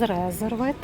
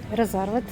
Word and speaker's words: Reserved: Всім великий привіт з реервет. Резервет. Отак правильно. Я неправильно наголос ставлю.